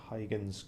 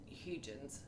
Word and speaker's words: Huygens: I'm not pronouncing it exactly properly, but it's closer to Huygens.